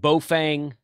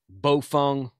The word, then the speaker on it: Baofeng: to say beofang okay you can pronounce it bofang bowfung balfoun i think that's that's the closest chinese pronunciation i can get to i'm just going to